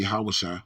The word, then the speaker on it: Hoshea: Now it came to pass in the third year of Hoshea, the king, Hoshea, I think you pronounce that Yahushua, son of Eli, king of Israel, that Hezekiah, the son of Ahaz, king of Judah, began to reign.